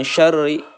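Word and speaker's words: شَرِّ: Ro yang berharokat kasroh ini dibacanya harus tipis.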